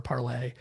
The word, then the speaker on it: Parler: So that was a big difference, is that you have the Gab vote, Parler, Parlay. We're still arguing over whether people on an alt-right site would use the French pronunciation.